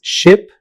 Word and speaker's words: ship: Another common pair is ship and sheep. Ship, ship. Sheep, sheep. Ship is pronounced with a short vowel E, while sheep uses the long vowel E.